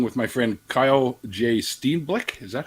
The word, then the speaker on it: Steenblik: today I'm talking with my friend Kyle Jay Steve Black is that how it's pronounced yeah yeah yeah all right and he's